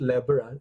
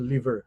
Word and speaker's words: lever: By the way, don't pronounce it as lever, it's a liver, no?